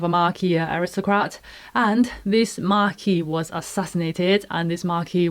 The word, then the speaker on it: marquis: note at this point maki is the french pronunciation i think i will follow that because that's how simon